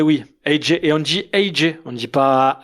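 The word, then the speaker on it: Ajay: toi tu es belge on dit AJ c'est à l'américaine.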